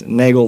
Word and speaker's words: Nagel: how to say it, it's Nagel like bagel, but with An N. That's what they said at MGM, right? That's how they used to call you. MGM used to call me Nagel for bagel.